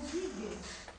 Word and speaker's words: Giges: Gog, como Giges, identificado, Giges, se a gente for pronunciar da forma semita, né, que o G sempre é G, nunca é G, né, nunca é J, né, então Giges seria o nome de